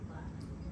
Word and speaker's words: BLK: Now, if I was to ask you guys to pronounce this as one word, how would you say it? Black. Exactly.